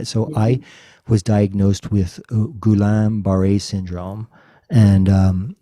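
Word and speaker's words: Guillain-Barré: will i don't want to butcher the the pronunciation of yourself i'll share it i'll share it yeah so i was diagnosed with gulam bharay syndrome and um it's an autoimmune disease it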